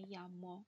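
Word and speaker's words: llamo: Буква «Эйе», которая читается как «Е». «Кому те ямас? Ме ямо, Элена».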